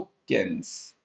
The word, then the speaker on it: Keynes: और यहां पे आ जाता है दोस्तों केन्स। एक सेकंड, इसकी स्पेलिंग सही लिख देता हूं मैं, KEYNES, केन्स।